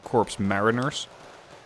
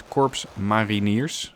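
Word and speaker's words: Korps Mariniers: harder to pronounce but it is not corpse mariners it is corpse my veneers it is Dutch and interestingly as opposed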